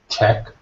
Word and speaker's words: Czech: Say that word again for me, Jolt, Czech, with a k at the end. Czech, Check. Czech.